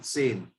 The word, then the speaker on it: zehn: इसको प्रोनाउंस करते हैं सेन।